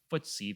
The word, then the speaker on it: FTSE: their major competitor um footsie that's spelled ftse considers south korea to be